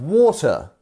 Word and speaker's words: water: Number 27, we have water. Water. So we are lengthening this or sound, and then adding and actually using this also as our stressed syllable. So water, 2 syllables, first one stressed.